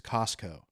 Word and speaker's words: Costco: He says it's Costco. Oh, because no T. You don't pronounce the T. There is a T, but you don't.